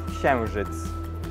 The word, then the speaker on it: księżyc: Here we have words that originate from different languages, and this one is księżyc.